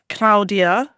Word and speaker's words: Claudia: Claudia is in fact pronounced Claudia, like yesterday was cloudy, but today is Claudia.